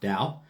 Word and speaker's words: Tao: the dao or the tao tao the dao pronounced dao the dao is the way of the universe